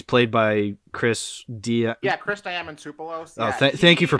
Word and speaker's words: Chris Diamantopoulos: Yeah, Chris Diamantopoulos. Oh, Yeah, thank you for pronouncing it properly.